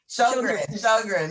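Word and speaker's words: Sjögren: little insight about what Sojourn, I think it's European name. Sjogren, there you go. I'm trying to pronounce it like it's spelled and that doesn't work.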